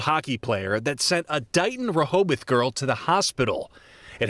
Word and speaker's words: Dighton Rehoboth: Dighton Rehoboth. Is that how you pronounce That's it?